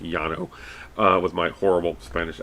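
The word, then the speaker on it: Llano: granite this is the yano granite in texas um l-l-a-n-o uh which in spanish would be pronounced yano uh with my horrible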